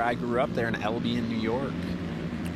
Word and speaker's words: Albion: Right around where I grew up there in Albion, New York. Say Albion?